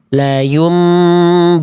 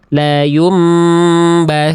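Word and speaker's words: لَيُنْبَذَنَّ: Contohnya yang harusnya kita baca la yumbazanna. Tapi ada kemungkinan kita baca seperti ini. La yumbatanna.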